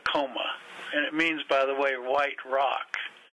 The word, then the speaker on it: Acoma: If you go to New Mexico, to the Acoma Pueblo, down there they pronounce Acoma. Here we pronounce it Acoma.